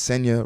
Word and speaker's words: Senya: with my name so my name is sea rhymes with Kenya and that would essentially